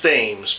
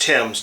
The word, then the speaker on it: Thames: While we're on the subject of bridges and the River Thames, now it looks like it should be pronounced Thames, but it's pronounced Thames, T-E-M-S.